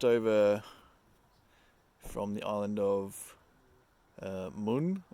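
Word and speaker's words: Møn: from the island of Moon I think it's pronounced m o with a line in it n uh which was yeah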